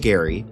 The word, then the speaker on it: Gerry: Governor Elbridge Garry, pronounced with a hard G, like Gary, not Jerry, finds himself in a pickle.